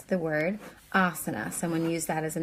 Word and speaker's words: asana: can learn it asana so that first ah sound the a with the line above it is ah a long like father and the other two days are considered short A's and it is an uh sound like cup so asana okay and so it goes